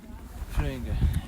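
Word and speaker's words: Flyinge: When I lived in Sweden, I lived in a town called Flöinge. It took me a while to say it like they say it. And it was spelled F-L-Y-I-N-G-E. Flöinge.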